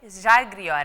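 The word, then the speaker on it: Žalgiris: And the Zalgiris Arena, do I pronounce it in a good way? Zalgiris Arena, right? Yeah.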